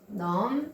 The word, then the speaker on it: numb: numb, B가 발음이 안 돼서 무감각함.